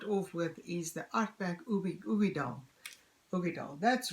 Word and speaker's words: Uigeadail: This is the Ardbeg Uigeadail, and it says here on the back, Ardbeg Uigeadail pronounced. Oh, they say here. Oh, okay. Uigeadail. Okay, good. Now we know it's Uigeadail.